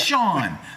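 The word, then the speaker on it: Siân: Cyan? Is that her? Yeah. Sean? How do we pronounce it? Sean. Sean, it is Sean. That's it. Her name is pronounced Sean.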